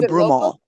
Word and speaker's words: Broomall: Is that pronounced correctly? Oh, is it Bloomal or Broomal? I'm sorry. Broomall.